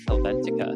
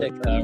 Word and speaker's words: Helvetica: I believe it is Helvetica.